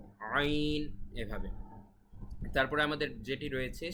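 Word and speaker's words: عين: গুরুত্বের সহিত উচ্চারণ করবেন আইন এটা কিন্তু বাংলায় এরকম উচ্চারণ আমাদের নেই শুধুমাত্র আরবিতেই স্বতন্ত্র গলার ভেতর থেকে বলতে হবে আইন আইন আইন এভাবে তারপরে আমাদের যেটি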